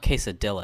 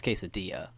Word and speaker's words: quesadilla: It's not quesadilla. It's quesadilla.